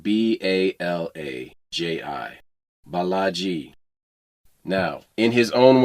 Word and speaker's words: Balaji: In September of 2024, Balaji Srinivasan announced the Network School, a 3-month learning